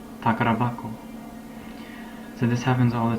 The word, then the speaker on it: 宝箱: hak like treasure box but when you combine them notice the pronunciation change it changes from hako to bako takar bako so this happens all